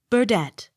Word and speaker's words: Burdett: d e t t burdette accent on last syllable b-u-r-n-e-t-t burnett accent on